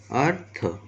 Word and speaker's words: अर्थ: तो इसका जो उच्चारण होगा वो र का उच्चारण पहले आएगा, अर्थ, और फिर र का उच्चारण फिर थ, धर्म, स्वर्ग, कर्म आदि।